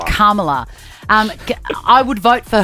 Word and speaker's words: Kamala: say it Kam Kamala Kamala harrisa Harris I always stuff that up as well she's a queen though cuz I want to say Cala but it's not right Kamala um I would vote